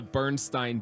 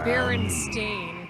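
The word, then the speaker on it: Berenstain: real quick that The Bernstein Bears the Chicago Bernstein Bears book was was my favorite pretty good of course it says Baron stain well that's how it actually written pronounced it is I always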